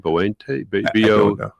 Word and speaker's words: Boente: Boente. B-O-E-N-T. I was trying to pronounce it with my southern accent.